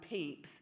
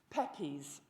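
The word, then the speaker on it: Pepys: the restoration diarist Samuel peeps his name does not sound like what it is spelled like but I did not know that at the time I was teaching Pepes the POS the Posh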